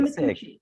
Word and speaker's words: Micucci: You said it right, Micucci. Okay, I want to make sure I was pronouncing that right.